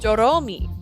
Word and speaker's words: Doromi: That's not how you say my name. My name is just Doromi, bro.